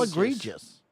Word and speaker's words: egregious: Spell egregious. Egregious. I pronounced it correctly, right, chat? A good one. Can I get the name of a Star Wars character that it sounds like? General Grievous. Thank you.